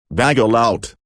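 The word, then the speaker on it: vagal out: something called vasovagal syncope otherwise known as vaggling out bagel out rhymes with bagel it lowers your blood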